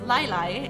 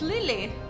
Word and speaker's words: Lily: I I love the fact that everyone is going to pronounce this lilac and no it's Lily.